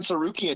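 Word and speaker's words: Tsarukyan: Sarukian? Arman Sarukian, yeah.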